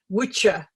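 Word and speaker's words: wicce: the old english but in old english the double c was pronounced so uh we wicca what we read now as wicca wicca is the religion but the old english word spelled the same way is witcher and it means a male witch which with a e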